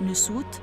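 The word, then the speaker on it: nswt: الشمال هنلاقي خرطوش فوقيه علامه نبات السوق تتنطق نسوت ومعناها وجه قبلي علامه النحله تتنطق بيتي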